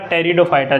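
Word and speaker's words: Pteridophyta: हालांकि स्पेलिंग पे आपका ज़्यादा फोकस नहीं रहना चाहिए, बाकी ये पी यहाँ पर साइलेंट है, ठीक है, और स्पेलिंग PTE इस तरीके से आएगी और बोला टेरिडोफाइटा जाएगा इसको, ठीक है।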